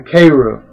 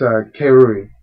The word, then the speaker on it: Keirui: Ah, yeah, and the Keiru, yeah, it's Keirui. Keirui is, I don't know why I pronounce it differently each time.